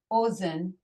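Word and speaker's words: אֹזֶן: Ozen is ear. Okay, ozen. So remember, if you see the word for ear, the aleph and kamatz is pronounced as an O.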